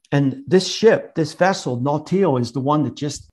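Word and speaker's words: Nautile: a vessel called the not teal I think that's how you pronounce it n-a-u-t-i-i-l-e three people went down in this vessel and Buckley was was one of them and this ship this vessel nautil is the one that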